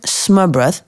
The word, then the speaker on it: smørrebrød: You have to have smørrebrød." Am I saying that correctly? Almost. Smørrebrød, but nobody expects you to pronounce it correctly.